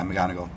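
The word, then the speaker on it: McGonigle: looking at something I saw on is it McGonagall is that how you say it yeah mcgonago yeah okay uh it was on MLB's the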